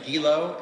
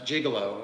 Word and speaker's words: Gilo: easy to pronounce names my last name is gilo and I've heard it pronounced jiggalo which is a terrible mistake so again I I